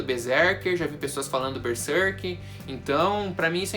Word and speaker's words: Berserk: Para alguns aí a pronúncia pode mudar um pouquinho, Berserker, Berserk, Berserk, Aí, galera, varia muito e, sinceramente, eu não sou de ficar cobrando pronúncia de mangá japonês, né? Acho que cada um faz a pronúncia do jeito que gosta. Pra mim é Berserk, foi assim que eu